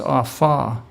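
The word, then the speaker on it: אָפָה: bake is H 644 spelled a PHA H pronounced off ah it's the Hebrew word for bake baking in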